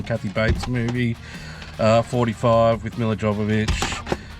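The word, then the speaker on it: Milla Jovovich: 45 with Mila Jovovich. Mia Jovovich is how you say her name actually.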